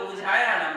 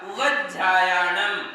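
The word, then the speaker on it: उवज्झायाणं: अब इसमें कई लोग उवझायाणम पढ़ते, उवझायाणम, उवझायाणम। देखिए, इससे व्यंजन कम हो जाते हैं, मात्राएं कम हो जाती हैं, इसलिए हमारे लिए पूर्ण मात्रा, पूर्ण व्यंजन और पूर्ण अक्षरों का उच्चारण करना है, तो व के ऊपर जोर देना पड़ेगा।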